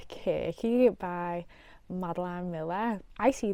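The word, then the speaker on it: Circe: Okay, I've chosen one that I don't think I can pronounce, but it's supposed to be pronounced Kirky by Madeline Miller.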